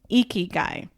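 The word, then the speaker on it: ikigai: shared it with you yes and it's called eeky guy I'm going to spell it out it's i k i g a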